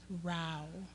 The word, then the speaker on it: Rao: do you say it rao like wow like a liar yes